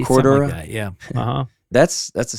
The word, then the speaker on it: Cordura: Cardora. Is that how you say it? That outer on some waiters. Cordura.